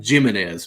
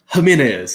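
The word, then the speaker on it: Jiménez: name was jimenez and my dad always pronounced it jiminez because the jade i'm like jiminez come on dad that's jamin is so that's always been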